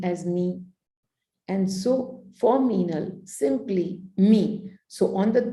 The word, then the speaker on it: Meenal: For Meenal, simply write me, M-E-E, right? That's how I always call myself. You write to me as me. And so for Meenal, simply me.